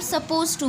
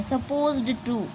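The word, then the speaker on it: supposed to: तो बोलते वक्त हम सपोज टू बोलते हैं। हम डी वाला साउंड को नहीं कंसिडर करते हैं और बोलते भी नहीं है। सपोज्ड टू ये हार्ड टू से है,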